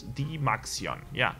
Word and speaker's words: DymaxioN: win to the Maxion I keep feeling like I'm saying the name wrong it's D max yo ya the Maxion the max yo I